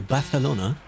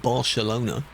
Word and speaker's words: Barcelona: Tarragotha. Because they say it like that in the same way you go Barcelona, not Barcelona.